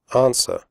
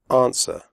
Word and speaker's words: answer: close the door close answer the W sound is silent answer do not say arms